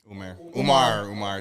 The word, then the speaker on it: Umar: Umar, sorry. Dr. Umar. Oh, shit. Umar we haven't is had a big crazy. mispronunciation in a while. Umar Is there an E? There's no E?